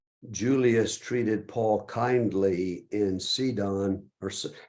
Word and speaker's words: Sidon: treated Paul kindly in cedon or how do you pronounce that David in in Hebrew would be sidon sidon is that North